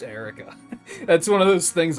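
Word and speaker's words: Eirika: I finally know that it is pronounced just Erica that's one of those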